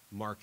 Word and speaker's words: marque: to grant letters of marque and reprisal mark there is spelled ma or qu e if you spell it